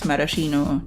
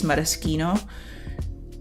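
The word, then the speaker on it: maraschino: have been pronouncing as Marashino cherries for the longest time, but I looked it up and if you want to lean Italian, it's Marosino.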